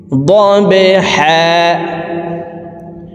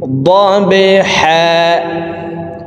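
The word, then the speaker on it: ضبحا: বা কলকলার হরফ নিচের দিকে ধাবিত করে ধাক্কা দিয়ে উচ্চারণ করব। দবহা। এই হাকে একালিপ টেনে পড়তে হবে, কারণ ওয়াকফের ক্ষেত্রে হরফের উপরে 2 জবর থাকলে 1 জবর সরিয়ে ফেলে বাকি 1 জবর রেখে একালিপ টেনিয়া পড়িতে হয়।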